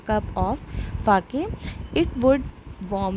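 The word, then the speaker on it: sake: सा is pronounced like फा इन the father. तो फादर में जैसे हम फा प्रोनाउंस करते हैं वैसे ही सा को प्रोनाउंस करेंगे। एंड के राइम्स विद वे, तो के का राइमिंग ये दिया हुआ है वे, लेकिन इसको पढ़ेंगे क्या?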